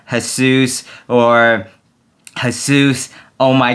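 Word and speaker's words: Jesús: totally playing around here the correct pronunciation should be latina her sous or her sous oh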